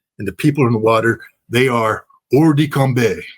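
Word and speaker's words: hors de combat: the water, they are or combe. That's the French pronunciation of what we Marines would like to say, horses combat.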